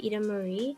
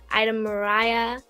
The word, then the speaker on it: Ida-Maria: as well yeah because in italian i is pronounced as e that's why i know